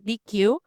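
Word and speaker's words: Deque: It was created by a company called um I I have the spelling here like the pronunciation DQ.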